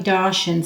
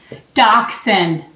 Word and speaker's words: Dachshund: To the viewer out there that said it's pronounced Dachshund, I know. I know. I just have this mental thing where I always want to say Dachshund. But I know where it's supposed to be.